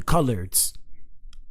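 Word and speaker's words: Coloureds: They're called the colors or the It looks like this. They spell it cola reds, but it's called the colors.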